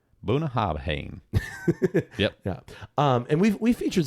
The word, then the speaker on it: Bunnahabhain: If you look at the bottle here in America, it looks like it's Bunnahabhain. But it's Bunnahabhain. You got to have a V in there.